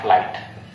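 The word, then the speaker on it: flight: सिर्फ टी पे देंगे जोर, दबाव होगा, और GH को आप साइलेंट मान के चलेंगे। और इससे एक नया आया टा, यहां से निकल के आया आपका टा, और मिला के आपने बोल दिया, अरे सर ये तो लिखा है फ्लाइट।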